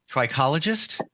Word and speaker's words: trichologist: She is an amazing, and I want to make sure I have this right, trichologist.